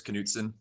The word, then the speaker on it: Knutson: that would be adulthood Knutson of course was I your I mean it's almost fun I'm just yes I pronounce the K so it's Knutson can I get some